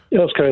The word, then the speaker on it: Earl's Colne: Last word on this to Danny, who is in, how do I pronounce that? Earl's Colne. Earl's Colne, that's correct.